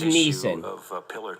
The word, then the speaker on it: Nison: Beyond Candlesticks, and it's Steve Neeson, not spelled like Liam. Which you spearheaded. So it's Nison.